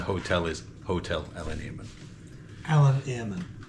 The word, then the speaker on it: Eilean Iarmain: Eilean Iarmain. Eilean Iarmain.